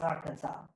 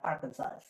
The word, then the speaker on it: Arkansas: and by the way we pronounce Arkansas as Arkansas not Arkansas there's actually a law